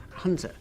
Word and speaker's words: Hunza: people travelling into the valley of Hunza, very often pronounced Hunza.